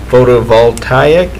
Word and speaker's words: photovoltaic: Ottawa Solar Photovoltaic Project. I'm sure glad you had that part to read. It's in yours. Oh no. Project to install a solar photovoltaic system to the water plant location, which will